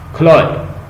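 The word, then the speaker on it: Chloe: छो खोलिस, ये लफ्ज जो है ना, ये इसकी प्रोनाउंसिएशन है क्लोइस, क्लोय, इसका मतलब होता है लवर, जो बिलव्ड है।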